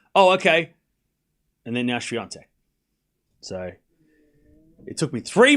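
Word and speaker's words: Świątek: me in 2020 when I was saying swattch because I'm an idiot and didn't know a thing. And then, but once we got to the final of the French Open 2020, I was starting to say it right. So, like we watched the first match and I was like, swatch, hey, idiot, you're saying it wrong.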